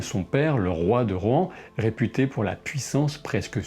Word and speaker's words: Rohan: Alors oui, je dis tantôt Rohan, tantôt Rohan. Durant ma lecture, je pensais Rohan dans ma tête, mais je sais maintenant que ça se prononce Rohan quand on suit les règles définies par Tolkien.